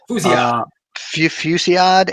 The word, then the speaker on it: Fusillade: I will use a power of aggression with how do you pronounce it? Fusillade. Fusillade, and exhaust the sidearm on Black Cat to deal 5 damage to an enemy.